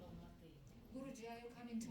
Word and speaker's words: Алматы: Нет, там переводится алма это яблоко, алматы яблоневый. No, Alma Ata. Алма-ата это русское произношение. Алматы.